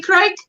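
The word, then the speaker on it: craic: And any crack, pronounced crack, any crack?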